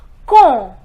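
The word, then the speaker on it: quand: comb it is common remember this D is silent so it is cool now the question that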